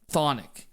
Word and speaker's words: Chthonic: Tonic was formed in 1995, and the band's name Tonic is a Greek term referring to the earth and the underworld. In the West, the term is usually pronounced Chthonic.